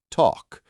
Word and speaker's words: talk: And then there's the L in words like walk or talk. It's not walk or talk. It's walk and talk. The L is silent.